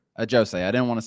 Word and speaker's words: Ajosé: Ajosé. Ajosé.